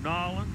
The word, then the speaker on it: New Orleans: How do you say that? Nolens. That's the way they say it. I say it, New Orleans, but I'm talking to them. They said, we're from Nolens.